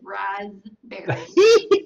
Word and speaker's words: raspberry: The dictionary says raspberry. With a Z? R-A-Z? John's the one that pointed out the P in the first place. So point your finger at John. So it's R-A-Z-B-E-R-R-Y is the pronunciation?